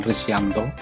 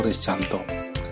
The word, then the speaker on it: Rizcanto: Nama saya adalah Rizcanto, pakai C sesuai ejaan lama. Sebenarnya nama panggilan biasa dulu dipanggil dengan Rizyanto, tapi karena dulu menggunakan ejaan lama, C dibaca Y, sehingga sesuai dengan ejaan zaman dulu menggunakan pakai C, yaitu Rizcanto. Saya mengampu pelajaran fikih kelas